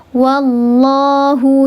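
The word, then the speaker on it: وَاللَّهُ: Karena tebal, betul, karena tebal dibacanya. Tafkhim itu artinya tebal. Sebabnya apa? Karena sebelumnya harakatnya fathah.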